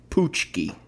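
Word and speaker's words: pączki: p a c z k i and it's pronounced poochki where is the poochki Donut from it definitely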